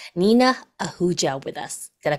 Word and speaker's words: Nina Ahuja: am so excited that we have Dr n Nina Ahuja with us did I pronounce it right did I do good yes